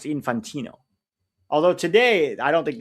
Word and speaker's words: Infantino: It's pronounced infantino.